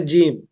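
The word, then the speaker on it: جيم: মিম তিনটা হরফ মিলে জিম তো আমরা আগে অনেকে পড়েছি জিম হাবার টানিনি আমাদের টানতে হবে কমপক্ষে দুই সেকেন্ড টানবো আমরা জিম সবাই বলি দেখি একটু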